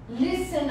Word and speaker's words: listen: O T é mudo.